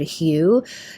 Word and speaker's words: HU: And one of my favorite ways to meditate is simply to chant the word hue. Hue. It's H-U, pronounced like the color hue or the name hue.